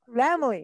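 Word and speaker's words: Laemmle: Hallee, help me with pronunciations. You know Lemley. This theater. Lemley.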